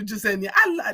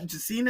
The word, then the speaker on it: Jasenia: With your permission, I would love to keep calling you Jasenia. Jasina is a nice name, but I am just so excited every time I call you Jasenia. I love that. I love that pronunciation of your name. Now, if you tell me to call you Jasina, I will call you Jasina. That's fine.